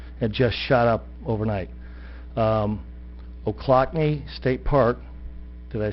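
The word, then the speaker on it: Ochlockonee: 22 million visitors and just shot up overnight o'clockney state park did i say it right you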